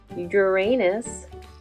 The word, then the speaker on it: Uranus: blue it's got rings too just like Saturn Uranus starts with a sound but we spell it with a u Uranus it's far away